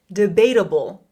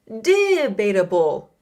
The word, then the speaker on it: debatable: First, we're going to look at the pronunciation. Debatable. Debatable. I have the word stress for you. Debatable. Word stress is really important. You know, we don't want to say debatable or debatable.